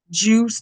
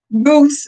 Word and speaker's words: Guse: Samuel Goose Juice. No, is it Juice? It just ain't got the I. I think I said it wrong. Goose is Samuel Goose. Goose. My ass said Juice.